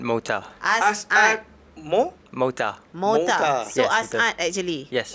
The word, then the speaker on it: As'ad: So Yes, Asad actually. Yes. Oh, bukan Asad. It's actually Asad.